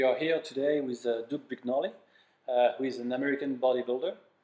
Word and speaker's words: Brignole: My name is, in the French pronunciation, it would be Brignole.